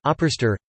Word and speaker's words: Ábrystir: Ábrystir (Icelandic pronunciation: Ábrystir) is a type of colostrum pudding consumed in Iceland.